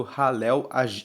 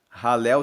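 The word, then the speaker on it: Hallel: Salmo 118 o Salmo 118 faz parte do ralel egípcio ralel se escreve h a l l e l e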